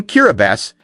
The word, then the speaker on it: Kiribati: Its name, Kiribati, is the local pronunciation of Gilbert's reclaimed legacy spoken in island rhythm.